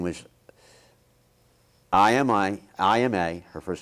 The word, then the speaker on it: Ima: n e and so if you pronounce that like I'm a June bug and I said this